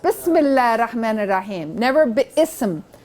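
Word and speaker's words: بسم الله: most gracious most merciful how do you say that bismillah not be similar right just bismillah r-rahman r-rahim never be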